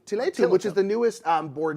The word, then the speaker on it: Tiletum: I think it's Tiletum. Tiletum, which is the newest board and dice game, the newest kind of like tea game.